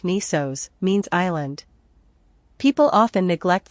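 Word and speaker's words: νῆσος: the stars the Greek new Sigma Micron nisos pronounced like nisos means Island people often neglect the full name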